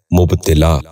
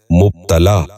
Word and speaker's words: مبتلا: غور سے سنیے، مالکانہ۔ آٹھواں لفظ ہے مبتلا۔ یہ غلط تلفظ ہے، درست تلفظ ہے مبتلا۔ دوبارہ سنیے، مبتلا۔ بچوں